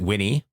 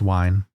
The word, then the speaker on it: Wine: on Linux so be was it Winnie nah it's just pronounced wine oh oh okay yeah